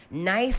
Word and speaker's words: Gneiss: the week Jennifer amaku is the CEO of nice Interiors I was trying to wrap my lips and everything around the pronunciation of this because your this your nice dear it's spell n e i s s